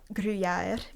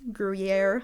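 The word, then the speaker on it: Gruyère: I never put together that that griier is like in such an Englishy version of what the true pronunciation. Yeah, it is a little bit Englishized.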